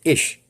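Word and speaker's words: אִישׁ: sheep have been found the Hebrew word for man is pronounced ish that's what the Hebrew word man means ish the Hebrew word for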